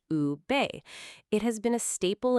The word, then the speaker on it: ube: That purple is a Filipino yam called ube, pronounced ube.